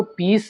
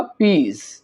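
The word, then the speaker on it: peas: English में पीज बोलेंगे यहां पर आपने इसको पीस नहीं कहना यह होगा पीज दाल को इंग्लिश में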